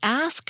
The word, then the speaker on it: ask: OD e ax owed both indicate the KS pronunciation based on these citations and many others it seems that during the time when Old English was spoken from about 500 to 1100 AD the ax pronunciation ruled the land the ask version still appeared but not nearly as much and the use of